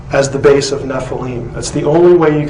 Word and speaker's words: Nephilim: constant of the naval this spelling is the ancient way of telling us that this is how you say the word Nephi Lim and therefore it cannot